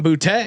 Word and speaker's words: Boutte: That's a very sophisticated way to pronounce booty as well. There, how did you do that? Keyshawn Boutte.